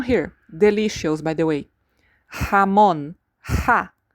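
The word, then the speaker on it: jamón: By the way, hamon ha. The j is always like our h.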